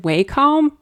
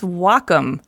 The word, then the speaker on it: Wacom: Is it Wacom? No, wait. Wacom. No, Wacom. No, it's Wacom. Oh. Pronounced wa, like the Japanese word for harmony, and come for computer.